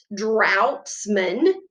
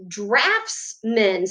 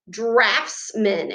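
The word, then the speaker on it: draughtsman: it looks like out droughtsman but when i researched it it's pronounced drafts men so this gh is going to say the f sound drafts men and that is a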